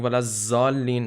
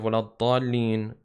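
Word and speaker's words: ولا الضالين: You can, if someone is saying walazzalin instead of waladdallin, that is a problem.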